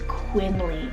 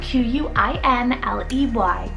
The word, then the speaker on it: Quinley: Then for the boy side, another L-E-Y ending name is Quinley, spelled Q-U-I-N-L-E-Y, Quinley.